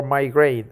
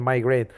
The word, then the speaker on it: migraine: How common is it, and why is it associated with a headache or migraine? And migraine. Associated, it has two pronunciations.